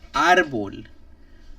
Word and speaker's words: árbol: So if you look at a word and it doesn't end with a vowel, an N, or an S, and it stresses and then it stresses the accent mark on the second to last syllable.